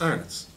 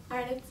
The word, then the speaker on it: Arnott: certain words such as arnots. Or not. Actually, no, I need to say arnots and you need to go. Arnott. Mark, you would pronounce it as arnots. It's Arnott.